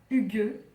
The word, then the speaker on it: Hygge: Pour le thème du mois, donc c'est le Hygge, voilà comment ça se prononce en danois.